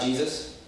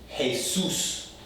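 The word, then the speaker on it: Jesús: It's not Jesus. It's Jesus. Jesus. Okay? The J sounds like the H in Spanish.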